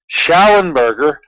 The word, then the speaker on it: Schallenberger: And in the search engine for YouTube, I want you to type in Courtney / that's / Schallenberger. That's phonetically spelled as it sounds, Schallenberger, Schallenberger / ozone.